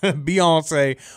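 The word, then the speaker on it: Beyoncé: beon Beyonce Beyonce yeah Beyonce which rhymes with fiance I just did not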